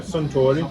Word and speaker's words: Suntory: Yeah, Suntory.